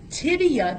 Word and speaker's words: tibia: Tibia doesn't have an L. Go back. People, I hear people pronounce it wrong, but you're not going to do that. You're going to pronounce it tibia. T-I-B-I-A.